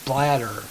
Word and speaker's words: Blatter: I saw this article on this guy named Blatter. B-A-B-L, I think it's pronounced B-L-A-T-T-E-R, Blatter or something like that.